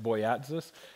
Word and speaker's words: Boyatzis: Richard, I think his last name is pronounced Boyatzis, wrote a book called